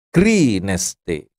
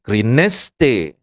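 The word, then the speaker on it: κρίνεσθε: itu perhatikan tanda-tanda bacanya kalau ada garis miring arah ke kanan itu harus ditekan suku katanya keste gitu jangan krineste nah itu tadi saya ngomong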